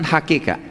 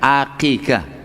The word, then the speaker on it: aqiqah: Bukan 'hakikah', tapi 'aqiqah '. Jadi, sangat berbahaya jika salah dalam pengucapan, begitulah. 'Aqiqah', ya.